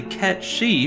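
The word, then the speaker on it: Cait Sith: Fantasy 6 one of Lulu's dolls is actually KET shei from Final Fantasy 7 and yes that is the Canon pronunciation of the name as previously mentioned Cloud's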